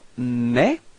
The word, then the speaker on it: mes: So you've got mes. Repeat. Mes. So you can see that you don't pronounce the final S, okay, but this combination ES gives you the sound E, okay?